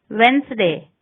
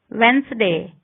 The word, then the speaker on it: Wednesday: Wednesday, cadge. D is not pronounced in the following common words: handkerchiefs, Wednesday, sandwich, handsome.